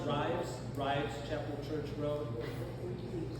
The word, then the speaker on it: Rives: there, take a left on, is it pronounced Rives, Chapel Church Road? It's spelled R-I-V. Is it Reeves or Rives? Is it Reeves? Okay. I couldn't find the spelling, the pronunciation. Yeah. So you turn on Reeves Chapel Church Road, keep going for a little